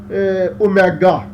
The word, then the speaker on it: omega: only to ensure that this W-like symbol, that is oscillation angular frequency, is pronounced as omega.